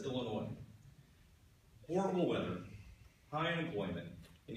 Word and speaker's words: Illinois: other state that has a silent s that's Illinois horrible weather high unemployment